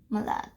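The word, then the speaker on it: malade: from malad you say malad and say over here there's an e so that is why you pronounce the d the but not every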